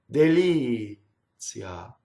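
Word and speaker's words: delizia: Now, when I sing, I have to do the t as almost as a semivowel. So it's like this. Deli-zia. Very gracefully. Not deli-zia. See where the TZ goes? Deli-zia. It goes on the second syllable, right?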